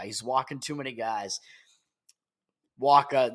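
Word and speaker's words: Wacha: walking too many guys Wakka that's that's how we pronounce it in Boston at least but look at his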